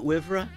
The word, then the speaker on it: WIVRA: Is that how we say it, WIVRA? Yes, definitely how you say it. I've been saying WIVRA. That's how you say I've been saying WIVRA for 8 years now.